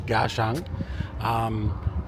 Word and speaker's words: Kaohsiung: I realized I've been saying the town name wrong until I was on the train before and I was actually listening to how it's said, so it's Kaohsiung.